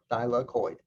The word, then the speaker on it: thylakoid: how to pronounce it it's just three syllables by la coid okay thylakoid now what about the